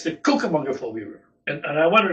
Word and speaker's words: Cucamonga: The name of the river is the Cucamonga River.